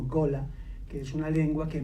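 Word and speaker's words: Gullah: Y también se empapó allí de la lengua, que se escribe G-U-L-L-A-H, y que he oído que la pronuncian como Gola, que es una lengua que mezcla muchos vocablos de comunidades africanas distintas con un inglés modificado.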